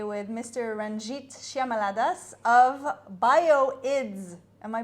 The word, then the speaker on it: Bio-IDz: sitting here today with Mr Ranjit shyamaladas of bioids am I pronouncing it correctly bioids that's thank you for letting me know so